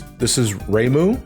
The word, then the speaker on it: Reimu: All right, so this is Reimu. Is that how you pronounce their name?